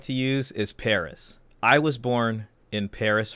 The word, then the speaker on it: Paris: Know that the S at Paris in French is silent, as is often the case with the last letter of a word in French. So the French would say Paris, Paris, Paris.